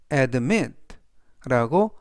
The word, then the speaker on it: admit: admit admit라고 발음하시면 되겠고요 이때 강세는 뒷부분에 있는 아의 강세가 있습니다 그래서 admit라고 발음하시면 좋겠고요 품사는 동사 뜻은 인정하다라는